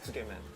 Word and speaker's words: Tsukemen: Tsukemen.